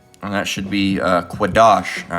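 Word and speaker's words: קדוש: what holy means and that should be uh quadash all right by the way Strong's H 69 18. kadosh and that's not good entry you got it wrong on that one no it should be quadash all right that's why we say right the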